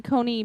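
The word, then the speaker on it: Coney: I know um Amy Cony Barrett did I say her name right I think con con like con Island she had I or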